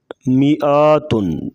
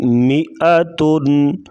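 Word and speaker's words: مائتين: کیا ہوگا لیربو مئتن، بعض لوگ پڑھتے ہیں مئاتن، کیا پڑھیں گے مئتن مئتین مئتین لأذبحنه من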